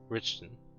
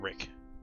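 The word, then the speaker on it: Richten: guess it's sorry I I as the DM mispronounce it it's richon not Rick Rich richio no no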